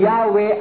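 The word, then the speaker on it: Yahweh: 1950 edition ang sabi while inclining to view the pronunciation Yahwe as the more correct way we the Jehov have retained the form Jehovah because of people's familiarity with it since the 14th century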